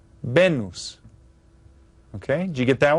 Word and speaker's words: Venus: same it's pronounced remember the vowels in Spanish are pronounced the same every time and they're a little bit shorter benus benus okay did you get